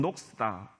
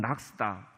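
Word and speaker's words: Knox: 이건 이제 1560년 존 녹스다 혹은 낙스다, 뭐 발음하기 나름이죠.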